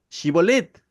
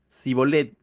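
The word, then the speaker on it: Shibboleth: dice el verso 6 Entonces le decían ahora pues di shibolet y él decía zolet porque no podían pronunciarlo correctamente pareciera que los de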